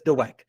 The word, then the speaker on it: Dweck: by miss carol well i think it's dweck but that's what i said you're overpronouncing the w i don't know i'm pretty sure it's dweck right now so mindset